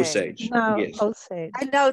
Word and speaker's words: Osage: And so you're saying Osage, and it's not Osage, like I've been saying. Osage.